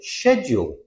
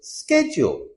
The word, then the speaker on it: schedule: British people pronounce it schedule. Americans pronounce it schedule.